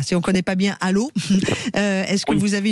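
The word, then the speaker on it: Allauch: Allô, ça s'écrit àoche mais ça se dit à donc on est euh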